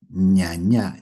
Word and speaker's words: ñaña: Las palabras en el quechua se pronuncian de forma grave, es decir, con mayor entonación en la penúltima sílaba, ya en en general, en el quecho va a ser así.